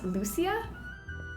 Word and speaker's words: Lucia: stage demands my presence and Sweden we pronounce Lucia and it celebrates Lucia